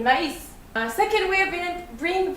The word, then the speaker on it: maïs: The first way is pronounced as I, like that, like in maïs.